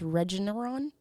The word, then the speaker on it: Regeneron: the national stage at the, I think it's pronounced Regeneron Science Talent Search, which is the country's oldest and most prestigious science and math competition for high school seniors.